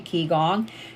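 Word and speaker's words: Qigong: what I love about Kong and this is spelled Qi and then the next word is g o n g keong is that it's more of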